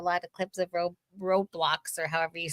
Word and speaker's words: Roblox: Roadblocks or Hey, Serena. Roadblocks. Like a road row. Like Roblox. R O B L O X. Oh, like Row row your boat.